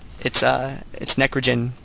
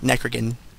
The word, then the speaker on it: Necrogen: It's Necrogen, not Necrogen. It's Gen, like generation.